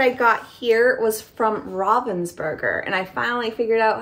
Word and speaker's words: Ravensburger: to say it correctly I always said Ravensburger and I love you say Ravensburger which is the more American pronunciation but I say it more as the German pronunciation so it's actually Robins bger um and so I